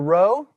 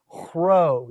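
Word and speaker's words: rho: call a guttural sound if i were to pronounce it i would pronounce it as a row you've got to put a little wind behind it in its pronunciation all right the next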